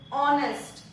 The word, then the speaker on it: honest: It is honest. H is silent here.